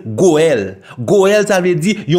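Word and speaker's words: גואל: langue originale Bible la langue hébreu morcha il prononcé goel goel ça veut dire il rédempteur racheteur don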